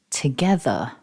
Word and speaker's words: together: see from this slide it's a three-syllable word and the main stress is on syllable two so repeat after me together focusing on syllable one